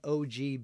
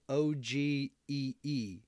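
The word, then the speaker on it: ogee: So Let's see, IL Peleg, what is an OG bit? Okay, it's spelled O-G-E-E.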